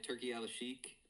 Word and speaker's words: Turki Al-Sheikh: He got offered by Turki Al-Sheikh, is how you pronounce it, like the Saudi guy, to box or have a MMA fight with Conor McGregor.